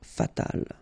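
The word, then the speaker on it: fatale: then fatal feminine form you just add this final but then phonetically it's the same fatal okay so General and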